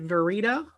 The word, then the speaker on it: Verita: in okay okay um let me make sure i am pronouncing your last name correctly is it verita it is yes thank you hi miss